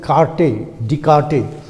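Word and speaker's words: Descartes: this one of course in french it is pronounced as carte de carte but as you read it it is cartes so from cortes it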